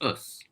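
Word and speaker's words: ус: for water but because us sounds a lot like us and the book very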